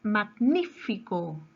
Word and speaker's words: magnífico: La palabra magnífico. Magnífico. Su mayor fuerza de voz está en la antepenúltima sílaba.